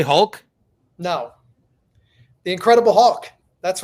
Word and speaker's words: Hulk: I pronounce his name and it sounds like I'm talking about a bird. So, the Incredible Hulk. You're saying Hawk? Yeah. You can't say Hulk?